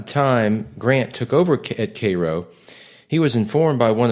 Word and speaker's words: Cairo: moved his headquarters to Cairo, Illinois. Now, Cairo is pronounced like the syrup, but it's spelled like the city in Egypt.